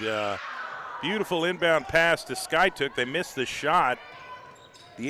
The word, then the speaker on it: Skiatook: is a bucket by Skyhook I'm sorry Sky took I've got to get my pronunciation correct here's camariana Moten she's dribbling left down by 11.